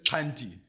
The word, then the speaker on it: Xhanti: correct pronunciation so it's 20 right okay yeah so I always say to people it's like or at least for me it's a click on the left side of your mouth yeah I'm gonna